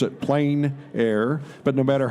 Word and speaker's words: plein air: or the outdoors the French say plenty others pronounced at plein air but no matter how you say it it's